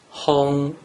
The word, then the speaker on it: hong: So, if you combine the consonant he and the vowel ong together and pronounce it with the first tone, it is pronounced hong.